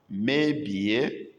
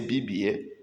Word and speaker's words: mebie: Mebie, spoil. Some will say BBA, but the actual word is mebie, spoil or destroy.